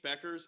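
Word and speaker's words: Bueckers: of old for yukon women dude freshman paige becker's is the real deal i'm happy you finally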